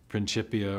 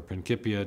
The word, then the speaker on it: Principia: book written in 1687, the Principia or Principia, depending on your preferred Latin pronunciations.